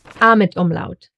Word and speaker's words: Ä: And here is also the third letter with an umlaut, A mit Umlaut. It gets pronounced as A. So basically like a long, loose, relaxed, and chilled out E. Like for example in head. Head.